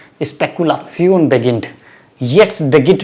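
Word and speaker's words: Spekulation: कैसे बोलते हैं, जब भी कोई इंग्लिश वर्ड आता है तो उसकी प्रोनाउंसिएशन डिफरेंट होती है।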